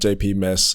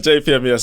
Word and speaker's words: JPMES: how siri would announce it but it's i spell it out jpmes i've had jp miss i've had jp mess japanese all of that japanese but yeah but jpms is what i'm going with um um yeah